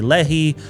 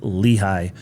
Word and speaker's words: Lehi: They might say Lei, but it's pronounced Lehi. And Lehi sits just on the northern tip of Utah County, directly south of Draper and Salt Lake County.